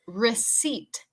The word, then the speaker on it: receipt: All right, and number 6 is receipt. Receipt. Eso es como factura, recibo, receipt. Pero recuerde que la pronunciación de la P es muda con esta palabra.